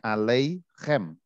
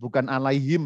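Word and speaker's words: עֲלֵיכֶם: Jadi dibaca dari kanan itu shalom alei bacanya aleichem. Bukan alaihim ya. Nah, saya sering mendengar tuh shalom alaihim, heaven shalom alaihim, artinya lain kalau alaihim. Tapi ini aleichem, shalom aleichem.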